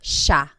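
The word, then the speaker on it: siya: central Luzon Tagalog speaking areas, it's pronounced sha sha.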